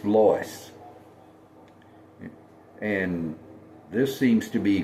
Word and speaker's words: Lois: That's not Lois, it's Lois.